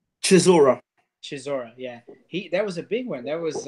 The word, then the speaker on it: Chisora: how do you say the other guy's name Chisora Chisora yeah he there was a big one